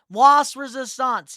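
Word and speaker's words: La Résistance: I can't pronounce it whatsoever. It's like something in French. Las Resistance? Yes, Las Resistance.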